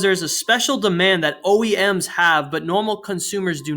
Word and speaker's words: OEM: OEM, pronounced as separate letters, is short for Original